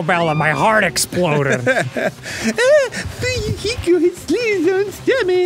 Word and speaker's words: Fuyuhiko: My name is pronounced Fuyuhiko.